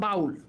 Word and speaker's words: বাউল: ধরো আমি একটা শব্দ লিখলাম, শব্দটা হচ্ছে বাউল। দেখো বাউলের ভিতরে রস্বউ যেটা আছে এটা কিন্তু পরিপূর্ণভাবে উচ্চারণ হচ্ছে বাউল।